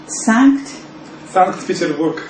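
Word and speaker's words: Санкт-Петербург: Sankt-Peterburg.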